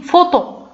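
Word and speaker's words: photo: اكزومبل مثال، مثلا هنا كنلقاو بي حداها اش، دونك كيفاش غادي تنطق اف يعني فوتو صورة. يعني هنا كنشوفوا هنا صورة فوتو. بي حداها اش نطقنا بها اف دونك فوتو.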